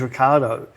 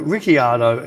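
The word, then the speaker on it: Ricciardo: when he's talking he says his name is Ricardo even though it's spelled like riardo yeah his pronunciation is Ricardo but then there's four or five commentators go rickardo even though everyone else says Ricardo and then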